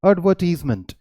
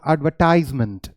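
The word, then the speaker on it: advertisement: में इसकी प्रोनाउंसिएशन है एडवर्टाइजमेंट। एडवर्टीजमेंट और एडवर्टाइजमेंट दोनों अलग है। ब्रिटिश इंग्लिश में एडवर्टीजमेंट कहते हैं और अमेरिकन इंग्लिश में एडवर्टाइजमेंट कहते हैं, राइट।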